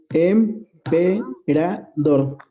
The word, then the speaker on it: emperador: Es emperador. Y la sílaba tónica es la última, el dor.